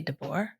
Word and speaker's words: de Boer: just this first one nicole de bear b-o-e-r i think it would be deboer de boer yeah uh is levin